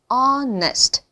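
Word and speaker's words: honest: 때문에 이음 절에는 약화가 되는 거예요 그래서가 아니고 onest hest hest 오 완전 잘하셨습니다 이렇게 해서 지금 단어에 관련된 발음을 점검해 봤습니다 계속해서 우리가 연습한 발음을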